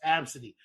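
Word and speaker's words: Abcde: And I would have their fucking name is literally pronounced Absidy.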